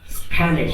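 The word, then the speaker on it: Spanisch: English, फ्रांसियोजिश 10%, Deutsch, Deutsch, 7%, स्पेनिश। Spanish, स्पानिश, ए को आ भी तो बोलेंगे, स्पानिश, इटालियनिश।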